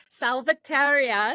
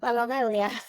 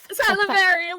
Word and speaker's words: Salaverria: I'm so excited to have Salvateria. Did I say it right? No, Salaverria. Salaverria. We practiced too. Oh gosh, I'm so sad.